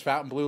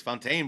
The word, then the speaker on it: Fontainebleau: 8 000 times so if you ever doubted what the name is and how it's pronounced you now know just go sing The Fountain Blue song No Sean you're wrong the people that wrote this video are wrong the website people are wrong it's Fontaine blah because we've